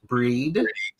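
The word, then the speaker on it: Brigid: And Lois pronounces it breed.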